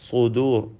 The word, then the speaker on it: صدور: സുദൂർ, സ്വാദിന് തഫ്ഖീം നൽകണം. എന്നാൽ മറ്റക്ഷരങ്ങൾക്കൊന്നും തഫ്ഖീം വരാതിരിക്കണം.